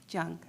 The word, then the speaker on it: Jung: Professor Jung? Did I pronounce that correctly? Jung, okay. So I wanted to ask